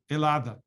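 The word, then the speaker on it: Ελλάδα: of my geeky history part uh so greece elada so that's what it's pronounced like in in in greece uh it's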